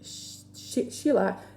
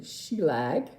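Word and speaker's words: Shelagh: Now, she spells her name Sheila, not the S-H-E-I-L-A, she spells it S-H-E-L-A-G-H, which is, I think, the Gaelic version of Sheila. So she gets called all these weird names too, including Sheelag, but for the most part, she's Sheila.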